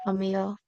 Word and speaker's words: Amaya: It's pronounced Amia.